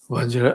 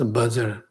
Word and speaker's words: Vajra: as Vajra, and that's Vajra Acharya, Vajra Yana, etc. Vajrayana, etc. Vajra is pronounced as Vajra, but in Tibet it became mostly all pronounces in a ordinary level pronounced as Bhajar.